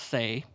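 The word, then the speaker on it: seh: the is the spelling of it but it's pronounced say and it means a member of a grazing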